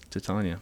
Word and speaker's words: Titania: Is that the correct pronunciation? It sure is. Titania.